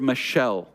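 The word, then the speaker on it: מָשָׁל: uses is the word Michelle um if you think of like a girl named Michelle all right that's how it's pronounced Michelle um and that word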